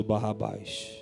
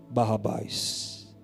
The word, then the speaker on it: Barrabás: crucifique Jesus e solte Barrabás. Barrabás, guarde bem esse nome. Um nome aramaico que se divide em 2 partes. A primeira parte se pronuncia Bar, a segunda parte se pronuncia Abas.